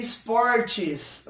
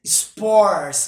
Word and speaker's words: sports: to showing this pronunciation you don't have to say Sport cheese okay the correct pronunciation is sports okay sports pay attention